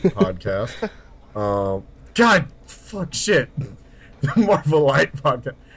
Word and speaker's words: Marvelite: The Marvelite podcast. I keep wanting to say Marvelite because this ending is spelled like elite, so that's why I thought it was the first time.